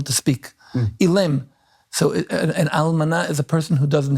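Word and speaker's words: אלמנה: And the almana. Almana is the Hebrew word for widow. Spell it for Or us.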